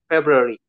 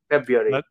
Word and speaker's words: February: we here we say february but uh when i learned american accent so they they said that february february that's right for us the r is silent february yeah and um today